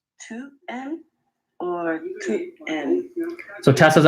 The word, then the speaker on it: tu aimes: Tu aimes or tu aimes? Tu. Okay, so she's asked about the pronunciation of that first word.